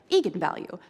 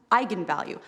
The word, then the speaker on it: eigenvalue: that i wasn't quite sure on how to pronounce it looked to me like eagan value so right i mean i think that's what